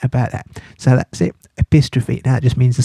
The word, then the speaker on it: epistrophe: Well, there's a name for that, and it's called epistrophe. Like apostrophe, but epistrophe.